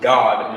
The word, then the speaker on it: Gad: And the way you would pronounce Gad in the ancient Hebrew is how you would say, people say God today in the English. So you would pronounce it God in the ancient Hebrew.